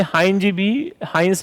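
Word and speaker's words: Heinz: बचाने के लिए, तो इसे हाइंस भी बोलते हैं, हिंज भी बोलते हैं, दोनों बोला जाता है जिसकी जैसी प्रोनाउंसिएशन हो।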